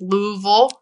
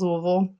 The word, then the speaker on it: Louisville: I did my undergraduate at the University of Louisville in Louisville, Kentucky. That's Louisville, not Louisville.